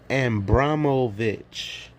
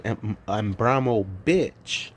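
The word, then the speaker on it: Abramović: Her name is Marina Ambramovich. I say ambramov bitch, but it's really ambramovich. And he just said Marina and Brahmo Vic.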